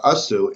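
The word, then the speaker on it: עשו: The accent of this directive, the asu, is mil'el, on the first part of the word, rather than milra, the second part.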